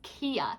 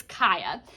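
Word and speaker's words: Kya: And I should add a disclaimer just in case I pronounce it incorrectly. When I read the book, I thought her name was Kia. So if I say Kia, please forgive me. It's Kaya.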